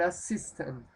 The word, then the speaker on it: assistant: Tilde, tilde para nosotros. En la I. Acento en la I. An assistant. An assistant. ¿Sí? No es an assistant ni an assistant, sino an assistant.